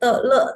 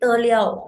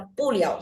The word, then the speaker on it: 了: Jadi le itu bisa dibaca liau juga ya. Dia kalau misalkan di 嗯，belakangnya te itu dibacanya liau. 有，就是，Main keyboard. Oke. Nah, verb ditambah ini jadi bukan te le tapi te liau. Jadi kalau di belakangnya te ini tuh pasti dibacanya liau.